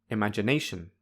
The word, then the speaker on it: imagination: my answers with you when I say imagination nay feels like the strongest syllable by strongest I mean it is the loudest the highest and the longest therefore nay has primary stress the quietest lowest and shortest so these have zero stress finally when I say